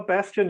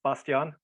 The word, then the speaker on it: Bastian: Well, Bastian, yeah, it's the English pronunciation. In German, it's Bastian.